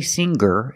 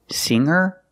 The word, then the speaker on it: singer: like singer and hanger in both of these words the G is not pronounced with a hard G sound we don't say singer and we don't say hanger we say singer and hanger today we're